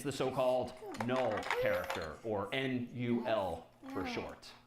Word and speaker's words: NUL: But all this time over here, ASCII character 0 is null, NUL, which just means that's how you pronounce.